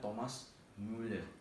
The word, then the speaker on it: Thomas Müller: Nah, ini contoh yang saya tahunya itu seperti pemain bola terkenal itu ada namanya Thomas Müller itu maksudnya jadi bacanya Thomas Müller gitu.